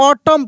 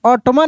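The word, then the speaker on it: autumn: अब देखिए यहाँ पे हम लोग ऑटम पढ़ेंगे, क्या पढ़ेंगे इसको हम लोग पढ़ते हैं ऑटम, यानी एन जो है ना इसमें एन, यह साइलेंट लेटर है। क्या है? साइलेंट लेटर, यानी ऑटमन नहीं, ऑटम, ऑटम।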